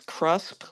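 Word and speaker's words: CHRUSP: CRHUSP, that I pronounce CRUSP, was founded, which I was one of the founding board members.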